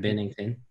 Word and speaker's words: Binnington: Yeah, okay, Jordan Binnington.